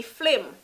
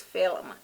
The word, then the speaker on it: film: word tana number 11 is going to be flim flame jamaican patois flame jamaicans always a flame the proper pronunciation of the word is film film it's not f-l-i-m is the proper word